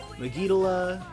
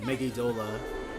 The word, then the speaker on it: Megidola: Megidala. I don't actually say it like that. Megidola. But Megidala rolls off the tongue very nicely, but properly it's Megidola.